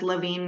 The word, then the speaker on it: Lavigne: We're we're on all social media channels as Lavine Naturals. So, it's spelled the French Canadian way. L A V I G ne.